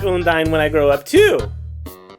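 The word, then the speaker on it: Undyne: It's pronounced Undine.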